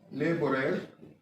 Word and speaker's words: labor: So labor, and labor is pronounced in the rhyme, with neighbor, labor, etc.